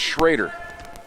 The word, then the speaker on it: Schroeder: Excuse me, it's Schrader. Just like the old Redskins quarterback. Remember Jay Schrader? They spell it Schroeder and pronounce it Schrader. It's some French thing.